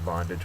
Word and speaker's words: bondage: good example of that it's a noun the uh first syllable is accented and it is slavery